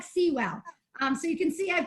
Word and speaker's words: Seawell: LinkedIn would be my name, and it actually looks like Sewell, SEAWELL, but it actually pronounced, I used to say rhymes with drool, Sewell, but it actually rhymes with jewel.